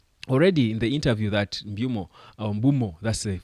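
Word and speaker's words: Mbeumo: the pitch but already in the interview that Mumo Bumo that's the right pronunciation of his name I think according to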